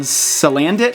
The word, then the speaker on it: Salandit: After all that, they revealed another new Pokemon called Salandit, I think is pronounced, who is a poison fire type with